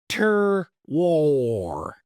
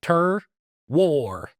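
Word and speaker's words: terroir: far as how it's supposed to be phonetically pronounced, but it makes sense. Tur war. So, yeah. Tur war. Tur war.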